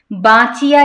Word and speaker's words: বাঁচিয়া: ঢ, অঢেল না অঢেল, বাঁচিয়া গিয়াছে, বা, বা একটু এই যে নাসিক্য চন্দ্রবিন্দু যে জায়গায় থাকবে সে জায়গায় দেখবেন একটু নাসিক্য প্রভাব দিতে হবে, বাঁচিয়া গিয়াছে, বাঁচিয়া গিয়াছে,